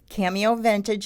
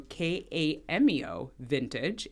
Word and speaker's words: Kameo Vintage: Yes, so you can go to Kameo Vintage, and that's spelled with a K, so Kameo Vintage, and you can follow us on TikTok, also Kameo Vintage, but it's Kameo_vintage.